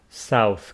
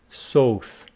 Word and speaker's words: south: some famous people from different countries Japan Mexico South Korea the UK and the US so my